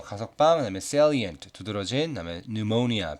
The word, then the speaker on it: pneumonia: 자, 위에 있는 세 단어는 parole, 가석방, 그다음에 salient, 두드러진, 그다음에 pneumonia, 피는 묵음입니다.